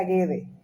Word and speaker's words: Guedes: un apellido realmente no se pronunciaría que se pronuncia guede y hay dos formas hay quienes firman como